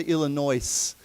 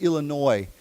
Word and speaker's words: Illinois: When we say Illinois, we don't say Illinois. Okay. Never pronounce the S. It's just Illinois.